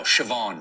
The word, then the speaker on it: Siobhan: Uh, how do you think that's pronounced? This one I know. Siobhan.